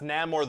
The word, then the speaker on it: Namor: Yeah, okay, but first of all, it's pronounced Namor the Submariner.